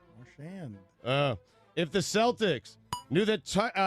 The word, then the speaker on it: Marchand: That's not how you pronounce it. How do you pronounce it? You have him from another planet. Yeah, Brad Martian, mental ward, collision course. How do you pronounce it? Marchand.